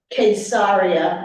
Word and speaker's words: Caesarea: If we go further, of course, we have Caesarea or Caesarea, as they pronounce it there.